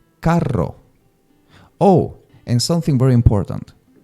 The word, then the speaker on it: carro: But in Mexican Spanish, they will say carro. Oh, and something very important. when you have two R's together, don't say caro. You have to say carro. Carro. You have to really push that R's together, right?